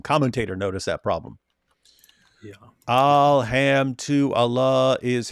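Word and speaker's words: الحمد لله: Alham to Allah is how you pronounce it, right? It's Arabic, right? Yes. Alham to Allah.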